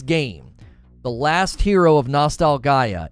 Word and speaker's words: Nostalgaia: The Last Hero of Nostalgaia. Yes, it's pronounced that way, not nostalgia.